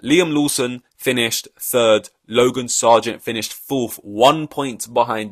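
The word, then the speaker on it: Sargeant: little interesting connection his team was Logan Logan Sergeant that's how you pronounce it and that's interesting and when I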